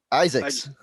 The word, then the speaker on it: Izaakse: I'm gonna mispronounce his name, Sean Izaakse. Isaacs.